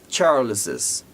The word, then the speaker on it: Charles's: A gente diz Charles's.